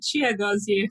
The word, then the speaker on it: Chiagozie: it uh but for the record can you pronounce it one more time just to make sure i said it right yeah chia goes here follow me all right good good uh why